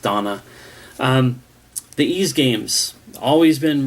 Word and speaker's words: Dana: credible that it's not even though it's spelled da na like dana it's supposed to be pronounced donna the e's games always